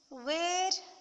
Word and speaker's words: where: When pronounced together, they make the sound HW.